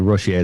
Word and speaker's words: Rousseau: I think Rousseau, they pronounce it.